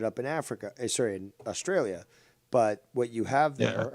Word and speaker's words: Australia: have the same Syrian Australia ends with an a not an R so please uh stop with your accents there if I can't pronounce my own country I'm in trouble Australia yeah you're gonna definitely